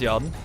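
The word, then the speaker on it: Yrden: Get Yarden. Clearly pronounced Yarden.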